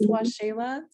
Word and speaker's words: Washela: It's spelled differently, but it's pronounced Washela.